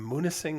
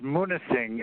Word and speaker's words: Munising: they were in singh i think it's pronounced munising m-u-n-i-s-i-n-g uh michigan yeah that's